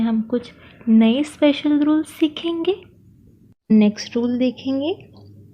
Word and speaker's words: soupe: Then है SOUPE, सो OU होगा ऊ, तो पूरा होगा सू और PE होगा प, सो सूप.